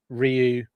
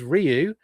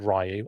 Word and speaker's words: Ryu: Uh, I've always said Rayu. I've always said Rayu my entire life. Um, and then I heard it pronounced correctly. And now I feel like I should probably pronounce it correctly.